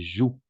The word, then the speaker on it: joue: Et alors, on va prononcer joue. D'accord? Je joue. Et en effet, d'accord? Je joue. Le E à la fin est muet, sauf le participe passé, n'est-ce pas?